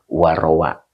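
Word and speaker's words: رَوَى: 2 menit Bismillahirrahmanirrahim waruwiya nah ini bacanya bukan ru depannya tu Isim yang rofa ya Nah di sini kita harus cerdas ini ya jadi di depannya itu adalah Isim yang rofa ya Jadi dibacanya warowa jadi failnya sudah kelihatan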